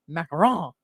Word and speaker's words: macaron: Macaron is uh is that crunchy kind of sandwich that's filled with yummy goodness.